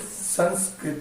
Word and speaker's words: Sanskrit: I will just pronounce as it should be pronounced. The word is Sanskrit.